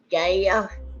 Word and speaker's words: Gaia: And then I saw him on a podcast where he's starting to do something on, I think it's pronounced Gaia. Gaia, yeah, like the network.